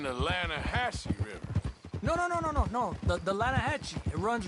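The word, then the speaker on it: Lannahechee: The Lanahatchee. It runs right near here. Yeah, but it's pronounced Lanahatchee.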